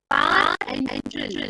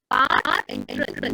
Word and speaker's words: parenteral: And parenteral, pronounced like that, parenteral, no, par, which is